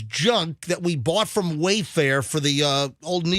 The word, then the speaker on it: Wayfair: chair just broke and as far as you Wayfarer no I've Rewritten the jingle Wayfair you made me bleed so yeah did I have an extra syllable in that lesson it worked I